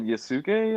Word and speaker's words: Yasuke: spell it then uh y-a-s-u-k-e and that's netflix like sasuke but yasuke yeah i don't know